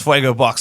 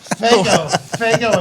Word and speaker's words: Fuego Box: Fuego Box hot sauce. I said it wrong the first time. Make sure let's get it right. Fago, a very different product.